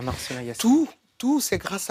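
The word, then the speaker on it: Marcellin Yacé: C'est Marcelin Yassé, c'est ça? Je prononce bien? Marcelin Yassé. Oui.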